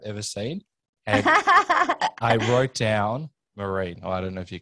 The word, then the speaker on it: Myrin: enjoy today's epic episode my weird last name is pronounced marine yes like i actually you have done the most podcasts i've ever seen i wrote down maureen i don't know if